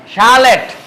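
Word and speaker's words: chalet: সকল ওয়ার্ডকে আমরা কি করব সিএস ইকুয়াল স উচ্চারণ করব যেমন শিকাগু শিকাগুো বললে হবে না এটা শিকাগুো বলতে হইবো ঠিক আছে শিকাগুো শালেট শালেট প্যারাসুট প্যারাসুট শ্যাপ চ্যাপ বললে হইবো না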